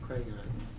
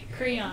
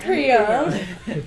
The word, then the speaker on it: Creon: How do you say it? Creon. Creon. Think of Cretan.